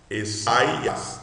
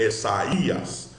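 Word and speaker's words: Ἠσαΐας: Porque eu estou lendo o i separado. Eu não estou lendo Essaias. Não. No grego é Essaías. Por quê? Porque quebrou o relacionamento de ditongo entre alfa e y.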